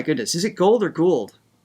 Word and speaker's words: Gould: Oh my goodness, is it Gould or Gould?